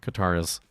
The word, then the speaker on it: Qatar: It represents an Arabic letter. It's a deep back of the throat K sound. Bubular stop which English doesn't have.